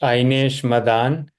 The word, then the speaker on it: Ainesh Madan: Yeah, hi, my name is Ainesh. It's pronounced Ainesh Madan.